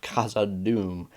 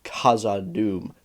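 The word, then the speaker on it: Khazad-dûm: as Saruman pronounced kazadum he's actually doing it right it sounds a little weird it sounds like he's placing a ton of infant emphasis on that H but that's because he is very specifically trying to pronounce both the K and the H separately and not he's not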